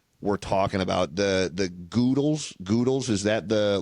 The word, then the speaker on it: Goodles: The the goodles is that the like the trendy one right now. Goodles. Goodles. It's just goodles. Yeah. But I like goodles. It sounds like noodles then.